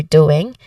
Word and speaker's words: doing: Now, pronunciation wise, the word doing, it might sound tricky, you know it's doing, right? So there is a ng sound, which is a nasal sound at the end, and the first syllable here is stressed.